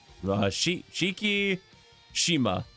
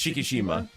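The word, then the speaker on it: Shikishima: say uh Shiki sh Shiki Shima I believe it's Shiki Shima I believe it's how it's pronounced because the eyes are usually pronounced as ease in Japan usually yeah yeah I've tried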